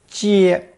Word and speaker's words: 皆: Pronounced first tone 接 and meaning all, every, or entire.